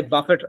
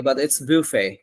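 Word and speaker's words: buffet: করেন এই ওয়ার্ডটা বলেন আমরা কি বলি আমরা রেস্টুরেন্টে যাই বাফেট offer right বাফেট offer থাকে বাটফে ওকে ইনফ্যাক্ট দেখবেন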